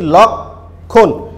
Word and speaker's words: লক্ষণ: আমরা কিন্তু আদ্য অয়ের পরে ক্ষীয় দেখছি, ক্ষীয়র সাথে ম ফলা যুক্ত আছে বলে আদ্য অয়ের উচ্চারণ আর ও এর মতো হয়ে যাচ্ছে না, আদ্য অয়ের উচ্চারণ বিবৃতই থাকছে, মানে স্বাভাবিক থাকছে। তখন আমরা উচ্চারণ করছি লক্ষণ।